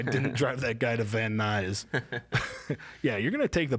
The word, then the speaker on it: Van Nuys: Yeah, that guy remembers that day when I didn't drive that guy to Van Nuys. Yeah, you're gonna take the bus, buddy. When did you learn how to pronounce Van Nuys?